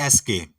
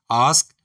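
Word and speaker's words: ask: पहला वर्ड है ए एस के। इसको ब्रिटिश इंग्लिश में हम पढ़ेंगे आस्क। जबकि अमेरिकनंस इसको पढ़ते हैं एस्क।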